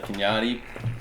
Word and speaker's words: Kanati: here with uh Kevin and Nate from the Kenyatta what that's how you pronounce it right yeah you guys can find